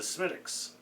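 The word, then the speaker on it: Smithwick's: market it as a stronger version of the Smittix. For some reason, in other parts of Europe and in Canada, people had problems pronouncing the name Smittix. It's actually pronounced Smidwix, but my understanding is pronounced Smittix.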